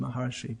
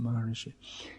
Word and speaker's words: Maharshi: It's actually pronounced Maharshi, but they pronounce it Maharishi.